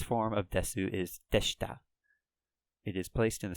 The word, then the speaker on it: です: kind of literally it's des Sioux guess ooh but I've been pronouncing it as just deaths and that's just a kind of an informal way of pronouncing that like syllable su so des you're sort of like